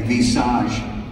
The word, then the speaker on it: Visage: talk about the vitalit and the VIS that's how it's pronounced by the way in French Vis super serum so